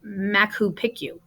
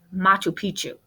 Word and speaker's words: Machu Picchu: I got to this one, Machu Picchu, and I said something like Machu Picchu. Bad moose, she said, Machu Picchu. I thought she was nuts until my mom informed me that is how it's pronounced.